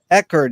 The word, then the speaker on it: Eggert: That's Moritz Egot.